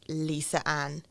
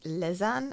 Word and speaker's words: Lisa Ann: documentaries that I've watched, it's pronounced Lizanne, I think. So Okay. I'm not sure which one it is, but Okay.